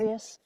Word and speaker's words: Evagrius: Evagrius, is that how you say his name? Evagrius.